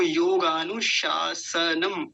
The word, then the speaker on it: योगानुशासनम: पहला शलजम वाला जो होता है तालव्य शकार जिसको बोलते हैं, और दूसरा दंतीय सकार जिसको सांप वाला स होता है, सपेरा वाला स, वो वाला। तो दोनों का उच्चारण अलग अलग पता होना चाहिए हमको। योगानुशासनम ऐसा बोलेंगे। तो पहला सूत्र हमने देख लिया क्या है?